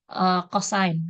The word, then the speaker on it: cosine: Atau ya cos gitu ya. Tapi kalau mau menunjuk cos ini sebagai singkatan dari cosinus, kalau penulisan nggak apa-apa disingkat. Tapi untuk pelafalan dia harus lengkap disebutnya cosine gitu.